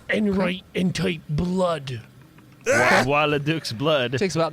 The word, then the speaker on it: Bois-le-Duc: My name is Bois-le-Duc.